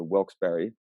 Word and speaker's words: Wilkes-Barre: we went up to luzerne county um to wilkes-barre and learned that that is in fact how you pronounce it um so we were in wilkes-barre